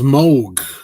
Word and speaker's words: Moog: It's pronounced Moog. M-O-O-G.